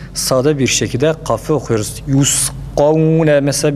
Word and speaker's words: يسقون: Yusqavne mesela birinci kaf a sesiyle okunur. Çünkü burada mukadder bir elif var demiştik. Yusqavne desek kavne değil. Yusqavne fakat ikincisi esreli olduğu için elif yoktur ve dolayısıyla sade bir şekilde okuyoruz.